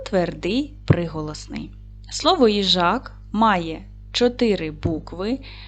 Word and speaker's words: їжак: і звуків Давайте перевіримо поділимо слово на склади їжак наголос буде падати на другий склад буква ї стоїть на